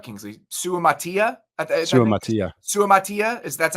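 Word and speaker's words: Suamataia: we talked about Kingsley Su Matia Su MAA Su Matia is that's how I had it I had it phonetically spelled out on my sheet just to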